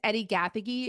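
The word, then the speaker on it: Eddie Gathegi: Whimsy to it that's really Eddie um it's Eddie gaffy it's spelled EDI and then his last name is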